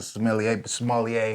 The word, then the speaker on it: sommelier: And so I'm going to taste yours now as you talk about the sommelier. How do you pronounce it?